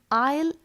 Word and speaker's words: isle: island and this word i'll i s l e here also the letter s is silent so its pronunciation is i'll the next two words